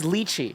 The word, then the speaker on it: lychee: correct even though you just said it it's lychee it's lychee lychee lychee you're the you know